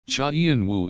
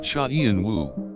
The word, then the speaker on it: Cha Eun-woo: To get the right pronunciation of Cha eun-woo, one should start with the first character and pronounce it as Cha. Then, continue with the second character and pronounce it as eun. Finally, the last 2 syllables should be read as woo.